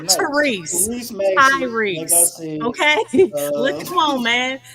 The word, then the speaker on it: Tyrese: I called Tyrese Maxey. I give you Tyrese Maxey. Okay, did you say Tyrese? I'm gonna need you to say Ty a little bit heavier. You know what I'm saying? Not Tyrese.